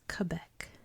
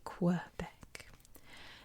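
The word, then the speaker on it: Québec: dialect of French so in Canadian French and I guess in regular French this is Quebec like with the k k back in America we say Quebec and this city here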